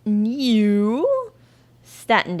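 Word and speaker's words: Nieuw Statendam: yeah built in 2008 i have to say it like that because it's n-i-e-u-w so that's how they spell most of their i mean i think it's just new but it is but it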